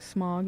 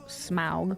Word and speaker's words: Smaug: Everyone's like Smog, it's like, no, Smaug.